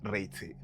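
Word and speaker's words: Ricci: James Harvey y mi eterna crash Cristina Reichy o Richi como se pronuncia.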